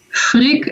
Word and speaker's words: Frigg: And the cool thing is, you also have Frigg, and I'm hoping I pronounce it right.